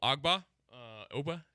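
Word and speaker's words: Ogbah: tagged yeah well we know the Allen Emanuel agba Oba is how you say his name um and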